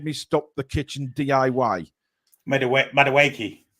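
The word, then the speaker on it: Madueke: Madawake. That's how you say it.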